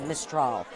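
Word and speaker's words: Mistral: mistol m mistol okay I'm saying it correctly mistol I was saying mol but it's mistol mol how do you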